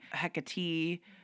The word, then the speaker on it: Hecate: name consistently she said it doesn't matter if you call her Hecate a hecatee and then she said something a different pronunciation that I've never heard um hectare or something she's like whatever you call them call them that consistently because if you call